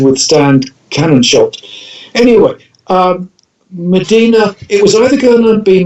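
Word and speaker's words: Mdina: well yeah it's it's it's it's medina i i thought it was spelled with an e but it's a place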